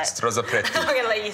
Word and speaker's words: Strozzapreti: Strozzapreti. I'm going to let you say it. So you just roll through it, Strozzapreti.